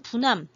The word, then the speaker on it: 부남: 지금 알려진 것으로는 부남, 중국어 발음으로 하면 푸난이 되는데 이 푸난이라고 하는 데가 이제 인도 차이나 반도 남부 지역부터 시작을 해서 말레이 반도 일대까지 차지했었던 중요한 나라라고 생각하고요.